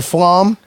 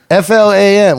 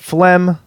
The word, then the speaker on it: Flam: some people call you Flom yeah yeah Flom I get a lot of different pronunciations Fla M looks like flam to me it's flam but I get phlegm flim yeah on my own podcast